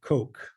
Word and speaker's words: Koch: it's funny mostly i think um and coke that's how you pronounce it okay koch yeah ch well because